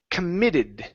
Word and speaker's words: committed: last one here is pronounced committed okay stress on M okay committed instead of committed